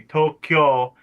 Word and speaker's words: Tokyo: Nigel, I'm just gonna point out because I'm a linguist and I like Japanese that Tokyo is misspelled. The actual pronunciation would be Tokyo.